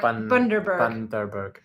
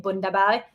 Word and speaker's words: Bundaberg: Apparently it's pronounced, Bundaberg. Bundaberg. Okay. It's funny because in my head, I'm saying it in a Swedish accent. And sometimes even on camera, I was like saying Bundaberg.